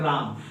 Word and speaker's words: रामः: विसर्ग, विसर्ग जैसे राम, राम हम सिंपल सा लिखते हैं राम, और राम के बाद हम क्या देते हैं?